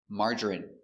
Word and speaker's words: margarine: So, we're going to practice the pronunciation of the sound in for I N E. Example, medicine. Margarine.